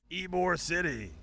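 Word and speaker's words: Ybor City: e like e Perfect all right that's it ebore City yeah that's right yep have you been there oh it's ebore City a here is that how you say it yes ebore City you've been to ebore before right yeah the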